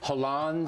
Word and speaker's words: Hollande: In the Talking Points memo, I said that the kook that the French elected, Hollande, is that how you say his name?